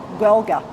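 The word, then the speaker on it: Gaeilge: How do you pronounce the name of the Gaelga. Gaelga.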